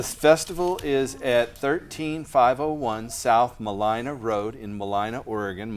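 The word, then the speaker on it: Mulino: Malina's halfway, but am I saying that right? You Malina? are saying it right. I Nice. thought so. I've lived here a long time, but I just want to be sure.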